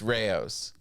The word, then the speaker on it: Rayo's: How do you say it? It's Rayo's. Okay.